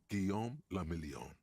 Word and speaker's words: Guillaume le Million: Guillaume le Million. Cool. If it doesn't rhyme, you're not pronouncing it right.